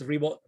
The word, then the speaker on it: Ribo: Last name is Ribo, spelled like R-I-B as in boy, O.